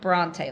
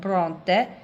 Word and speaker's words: Bronte: um but of course they don't pronounce it that way because our alphabet is pronounced differently but Bronte and in this town